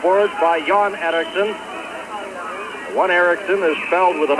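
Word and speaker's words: Erixon: by John Anderson one Erickson is fouled with an X e-r-i-x-o-n and the other John Erickson is e-r-i-x e-i-r-k-s-s-o-n to pronounced exactly the same two John Ericksons of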